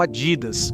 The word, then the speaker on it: Adidas: Dependendo de onde você é, pode pronunciá-lo como Adidas, ou pessoalmente sempre ouvi dizer Adidas.